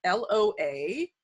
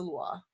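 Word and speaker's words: lwa: maybe people have seen this online where sometimes it's spelled L-O-A or L-W-A, and they're like, Loa? Louis? How do we say it correctly, and who are the Lua?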